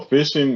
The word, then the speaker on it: phishing: what fishing is so fishing is is almost what it sounds like but it's spelled with a ph instead so fishing is when